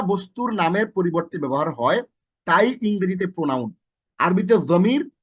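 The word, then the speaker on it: هو: যা ব্যক্তি বা বস্তুর নামের পরিবর্তে ব্যবহার হয় তাই ইংরেজিতে প্রোনাউন, আরবিতে জমির, বাংলায় সর্বনাম। তাহলে বাংলায় যেটা সর্বনাম, আরবিতে যেটা জমির, ইংরেজিতে যেটা প্রোনাউন, সেটাই হচ্ছে আমাদের জমির।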